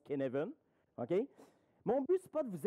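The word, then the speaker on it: Cynefin: s'appelle le cadre de ça s'écrit cinéphiles mais ça se prononce qu'est né veulent ok mon but spot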